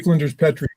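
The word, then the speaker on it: Flinders Petrie: So Pete, you said his name is How did you pronounce his name? I keep saying Petri. Flint. I say Flenders Petri.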